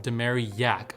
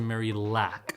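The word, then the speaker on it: Marillac: family by the way that's how you pronounce her last name demary yak not to mary lack she went to a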